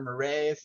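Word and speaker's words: Morin: you've not read from Edgar Marin or Edgar marray as I also heard it pronounced um there's some I've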